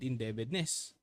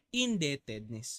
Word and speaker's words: indebtedness: create or increase Bond inde debit inde inde indebtedness Anong inde debit silent an di ba silent B Dapat indebtedness okay the corporate Bond